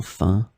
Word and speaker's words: faim: In this lesson, we will see together two words that are written differently but pronounced the same way.